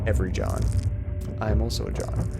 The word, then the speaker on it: John: fun of it because everybody always spells my name j-o-h-n like my name's john not jahan come on okay now